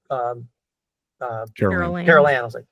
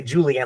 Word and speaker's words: Carol Ann: And Heather O'Rourke, who played Carol Ann. I knew the Ann part, but I was like, I'm saying it wrong. I was going to say Julianne. Like, Julianne's not right.